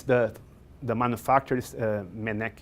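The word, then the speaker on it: Mennekes: the the manufacturers uh menek is i don't know how to say how they say it in french or english but in portuguese we would say like manikis m e double double n e k e s minecraft and this this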